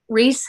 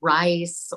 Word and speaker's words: Rhys: Reese struggles because people always want to say rice, or they don't know what to do with the RHYS spelling.